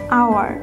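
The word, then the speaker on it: hour: সে for example an আওয়ার এখানে HT silent রয়েছে যার কারণে আমরা এ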